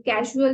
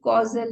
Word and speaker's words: causal: ये कैजुअल नहीं है, ये कॉजल है। कई लोग इसको प्रोनाउंस करने में गलती कर देते हैं। This is कॉजल body, CAUSAL।